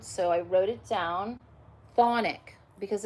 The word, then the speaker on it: chthonic: pronounce this word, so I wrote it down, chthonic, because it's spelled C-H-T-H-O-N-I-C, chthonic spirit.